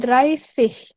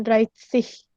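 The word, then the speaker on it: Dreißig: Dreissig, jadi bacanya Dreissig, bukan Dreissig. Dreissig, S ya, bukan S.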